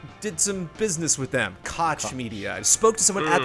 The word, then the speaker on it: Koch Media: like no one's corrected me so far it's koch media c-o-c-h k-o-c-h-koch media yes i just did some business with them koch media i spoke to someone at the company who